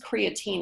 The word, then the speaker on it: creatine: Um, this is creatine, it's only, um, three syllables instead of four, and it is a supplement and it actually was shown to be helpful.